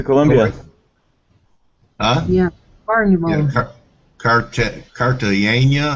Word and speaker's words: Cartagena: Yeah, Cartagena. How do you say it? Cartagena. Yeah, Cartagena.